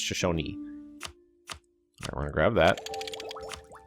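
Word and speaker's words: Shoshone: It is Shosonyi. You do pronounce that last letter there. I I actually checked by asking someone who is from that tribe that I know. Like how do you pronounce this? Shosony. Well, I pronounced a Shashon. She said it's Shashonyi.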